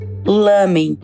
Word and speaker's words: lamen: Mas em muitos lugares do mundo, o pessoal acabou adotando uma pronúncia com L, lamen, que é o nome mais conhecido aqui no Brasil.